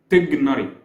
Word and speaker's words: Tighnari: the original one is tigar making the vowels inside the name fast and short not tigari or tari no it's